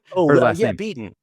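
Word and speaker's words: Kate Beaton: I realized I pronounced that wrong. I'm sorry. Kate beaten.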